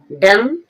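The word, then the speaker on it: dumb: बम यहां पर बी ओ एम बी एम के बाद जो बी आई है वह साइलेंट रहेगी। डम डम मीन्स गूंगा।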